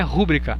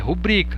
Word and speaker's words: rubrica: Não é rúbrica, é rubrica. Rubrica é uma paroxítona.